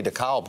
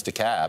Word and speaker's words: DeKalb: no it's just me i'm no longer going to say dekalb county right i know it's the cab now and we're all going